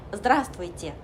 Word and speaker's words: здравствуйте: 여기서 아만 한번 찍고 뒤에 있는 나머지 알파벳들은 흘려 발음한다 생각하시면 돼요.